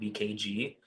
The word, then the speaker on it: vkgy: I run a website called VKG, and that's spelled VKGY.